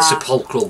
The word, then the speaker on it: Sepulchral: The Sepulchral Guard. Oh, you can actually pronounce it.